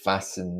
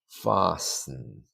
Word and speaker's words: fasten: although maybe I didn't fasten this properly the T there is silent fasten fasten it looks like fasten but it's actually fasten that's the verb when